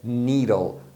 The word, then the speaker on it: needle: Mas quando você tem um ou dois E's, a pronúncia é a mesma, é sempre do som longo de I. Então por isso que é needle, né?